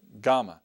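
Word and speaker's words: Gamma: letter you remember is GMA GMA I say it GMA notice it's going to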